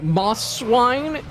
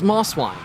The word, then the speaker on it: Mosswine: Moss swine. People read it as Mosswine, but there's the first the first S and the second S are separate words technically.